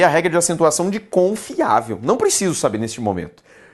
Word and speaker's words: confiável: E se eu separo o confiável, confiável, sílaba tônica, penúltima.